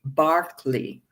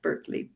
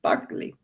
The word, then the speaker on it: Berkeley: in England, an Anglican bishop whose name is pronounced George Barkley, if you're British, not Berkeley, Barkley.